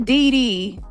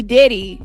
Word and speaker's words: Diddy: the popular topic like Diddy Diddy it's not DD not didy Diddy okay you're GNA talk about if you're gonna talk about a popular topic like Diddy you can least say